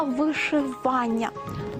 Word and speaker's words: вишивання: вишитий на чому-небудь візерунок правильно буде вишивка та вишивання ви на небо грай